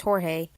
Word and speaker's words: Jorge: Most of his fan base and newcomers usually mispronounce his username as George instead of Jorge, which is how it usually pronounced. However, to add to the confusion, George himself often pronounces it in both ways, although he favors Jorge.